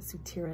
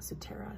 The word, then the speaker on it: Sutera: order from sutera and i was saying it wrong at sutira not suterra so in the description